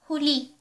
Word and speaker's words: huli: Another meaning of the word ay, if you pronounce it as huli, huli, it means catch or caught.